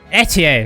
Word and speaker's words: Etie: Etier, that's how you say it.